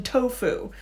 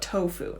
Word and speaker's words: tofu: Tofu. Because I'm speaking English, I call it tofu, not tofu, right? Because that's speaking Japanese.